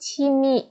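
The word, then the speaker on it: 취미: Şurada chi mi ama bunu siz direkt çimi diye okuyun. Çünkü şu V düşüyor.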